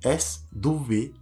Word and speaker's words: sweat: Ça s'écrit S-W-E-A-T. Comment prononcer ce mot-là? Le mot se prononce sweat. S-W-E-T. Ne faites pas la confusion avec un autre mot qui est sweet.